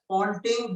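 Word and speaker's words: Poynting: poting vector firstly here you will pronounce this as poting though you will spell it as p y n t i n g don't consider po Pon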